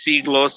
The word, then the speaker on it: Siglos: channel um and the band you know is pronounced c gloss it's spelled s-i-g-l-o-s it's definitely heavy um if